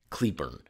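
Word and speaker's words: Cleburne: Starting off with the old foamy road monster in Claybornne, Texas, but I believe locals pronounce it as Cleburn.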